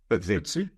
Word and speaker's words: FTSE: Is it FTSE? THUTSE? Is that how you pronounce it? Yes. Sorry? FTSE.